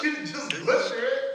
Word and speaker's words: Denis: Do not pronounce the S to Denis, it is silent in French. Do not say Denis, but rather Denis Villeneuve.